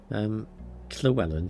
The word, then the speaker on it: Llewellyn: Llewellyn, surely. Be right back. Double L's are pronounced Kle.